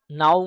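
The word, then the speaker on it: know: दोस्तों यहां पर नाउ में के साइलेंट रहेगा। अगर एन से पहले के आ जाए तो के साइलेंट रहता है।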